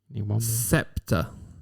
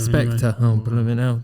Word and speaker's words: Spectre: Scepter. Scepter as in James Bond. Is it that one? Spectctor. Spectre. I've mispronounced it.